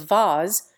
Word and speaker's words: vase: School teachers have been trying to establish various pseudo-French pronunciations of vase for 50 years past, but it still rhymes with face in the Vulgate.